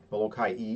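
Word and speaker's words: Molokaʻi: Molokai-e. if you want to pronounce it correctly.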